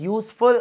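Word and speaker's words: useful: 153, she spent space यूजफुल आर इन the botany garden.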